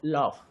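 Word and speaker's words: laugh: है what is that the letters ji H sound like F इन the word लॉफ let's say there another word है been written रफ आप इसको रफ ही पढ़ते हैं यस सर अब रफ को आर ओ यू जी एच यानी जी एच को आप घ ना करके ग ना बोल करके फ पढ़ते हैं ट मीस की इसी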